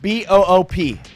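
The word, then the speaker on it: Mboup: B-O-O-P. M-B-O-U-P, but it is pronounced Got it. Boop.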